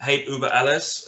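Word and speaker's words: Hate Über Alles: about your new album hate uber alice uh forgive me if i'm pronouncing that terribly i'm just kidding that's right absolutely perfect thank you so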